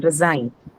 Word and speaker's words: resign: So where would The be the second stress? syllable. it's verb. Second syllable. Second Sign. syllable. Sign. Verb, so second syllable. Resign.